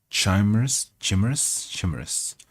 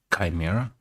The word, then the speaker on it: chimeras: to exercise them, with many other wild, impossible chimeras. That's an interesting word. Let's see how it's pronounced. Chimera?